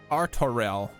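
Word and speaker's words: Artoirel: Artorel. Good. Now that I've heard it in-game, I can pronounce it properly.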